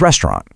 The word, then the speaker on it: restaurant: It's not restaurant. It is restaurant.